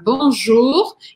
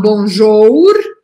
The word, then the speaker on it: Bonjour: Bonjour na palavra azul eu pronuncio como se fosse um em português então aqui é um exemplo de matemática das Letras duas letras mas é pronuncio um único som Eu não falo Bon jour e falo Bonjour Eu prometo só letra u em português sem biquinho exagerado tá e as letras